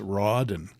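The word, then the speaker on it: Raden: inlays they're called Raiden I always called them raen r a d n but it's Roden apparently I always thought if it was Roden wouldn't be de spelled like Dennis Rodman you know but no it's Roden R A so when I do my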